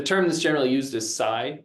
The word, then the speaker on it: psi: that's generally used is Sai which is spelled PSI uh phenomena a lot